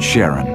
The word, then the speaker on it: Charon: After the ferryman of Pluto's underworld in Greek mythology, but preferred to pronounce it Charon, more like his wife's name, Charlene. From the motions of Pluto and Charon, astronomers could work out